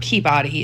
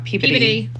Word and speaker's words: Peabody: I know it's not Peabody. It's Peabody is how they pronounce it, I believe.